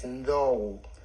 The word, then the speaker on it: Ndou: The proper pronunciation is Ndou. Ndou. So it's Ndou, not Ndou.